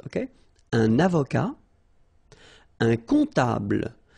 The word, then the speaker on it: comptable: Un comptable, so OM, remember it goes like on, alright? And then, strangely, this P is not pronounced. Un comptable, alright?